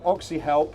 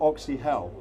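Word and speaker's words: Oxyhelp: now Christian K from oxy help not oxy hell that's correct yeah we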